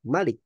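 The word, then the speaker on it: ملك: Ya, tapi Nabi Shallallahu Alaihi Wasallam mencontohkan kepada kita kalau di surat An-Nas bacanya pendek, Malik. Sedangkan di surat Al-Fatihah bacanya panjang, Malik.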